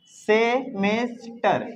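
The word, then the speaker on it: semester: ई एच टी आर सेमेस्टर सेमेस्टर की सेमेस्टर ज तो नहीं पढ़ेंगे ना क्योंकि इस एस के अगल बगल देखो यहां पे टी आ गया क्या आ गया तो इसको स पढ़ेंगे सेमेस्टर है ना अगर ऐसा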